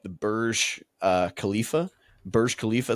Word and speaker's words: Burj Khalifa: resorts and beach clubs spot on on that pronunciation, by the way. By the way, Burj Khalifa.